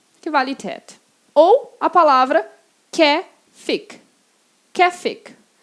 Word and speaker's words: Käfig: Ou a palavra käfig. Käfig. Essa palavra tem duas pronúncias, pode ser tanto käfig como käfig. Mas, por enquanto, vamos ficar com käfig e esse A-Umlaut tem som de é.